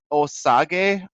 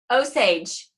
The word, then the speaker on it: Osage: say the the Native American tribe is its osaki oh such Osage Osage okay so here's a - two powerful